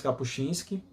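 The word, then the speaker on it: Kapuściński: estado islâmico então Richards capuchinski a pronúncia É capuchinsk mesmo né porque eu puxo muitos s mesmo não é polonês Cristo com fuzil ao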